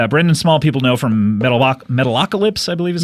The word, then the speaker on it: Metalocalypse: And Brendan Small, people know from Metalocalypse, I believe is how you pronounce it. Metalocalypse, that is correct.